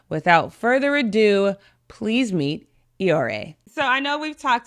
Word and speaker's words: Iyore: Yeah, and it's Iyore.